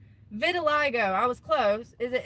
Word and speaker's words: vitiligo: Vitiligo. I was close. Is it? And am I saying it right? Vit aliggo.